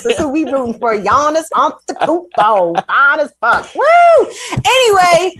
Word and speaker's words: Giannis Antetokounmpo: Giannis Antetokounmpo. Fine as fuck. Woo! Anyway, I'm sorry, Chuck Modiano. Don't let me diminish your. No, I was really impressed. Can you say his last name again? Giannis Antetokounmpo.